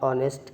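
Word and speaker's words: honest: शी इज़ अ ऑनेस्ट girl. नहीं क्योंकि एच यहां पे अपनी साउंड दे ही नहीं रहा है। वो तो साइलेंट है।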